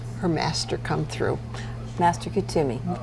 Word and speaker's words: Kuthumi: Master Kuthumi. Kuthumi, and I always want to say Katona, so I didn't say it. Kuthumi.